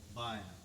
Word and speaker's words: baya: The right hand instrument, this instrument is called tabla, and the left hand drum is called baya. How do you spell that?